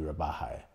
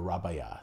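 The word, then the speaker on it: Rabajà: with the Silly and the Rabaja, or Rabaya, sorry. Pronouncing it incorrectly.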